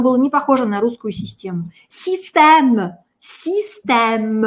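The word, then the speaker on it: système: Главное, чтобы оно было не похоже на русскую систему. Систем, систем. Это так в повседневной речи французы будут произносить слово «система».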